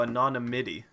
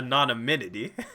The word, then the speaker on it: anonymity: Oh n IM ity so anonymity anonymity yeah not a non amenity sorry just stop bro look how it's spelt literally literally how do you there's no third end there you guys are you